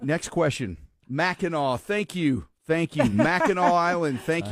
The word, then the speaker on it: Mackinac: I could not, Mackinac. I don't remember now. I don't even want to say it wrong because then I'll say it wrong when I really need it. Mackinac Island.